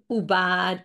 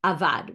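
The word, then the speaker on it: עֻבַּד: about the egla rufa, it's written ayin bet dalid, which usually would be pronounced as avad, which is an active verb. But it's pronounced, according to our tradition, right? If you look in a Torah, which has the nikudot, the vowels, you look in a chumash, it will be read as ubad, which is a passive verb.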